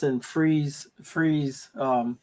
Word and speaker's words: Fries: it's in it's in freeze freeze um it's called Freeze but they spell it spelled like fries but it's called freeze freeze Virginia you know I just